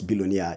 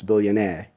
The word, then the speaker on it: billionaire: know and same thing true for billionaire not balunia its billionaire and finally have the word au f o